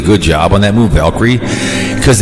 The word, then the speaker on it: Valkyrie: Yeah, Valkyrie.